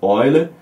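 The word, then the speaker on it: Euler: de relação the other a gente escreve eu lá né mas a pronúncia seria orla então relação de boiler é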